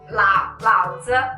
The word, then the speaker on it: 老子: 老子 actually, that's how we pronounce it. 老子 with the light, there's no tone to the 子.